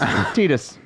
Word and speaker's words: Tidus: It's pronounced TD. It's Tidus. Christopher Titus, the comedian. It's spelled differently. That is, and they have said it's Tidus canonically. They're also wrong. So I said it Titus growing up my whole life, but yes, Titus Tidus.